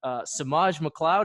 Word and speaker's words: Semaj McLeod: Today I have Semaj McLeod. Is that the right Yeah, pronunciation?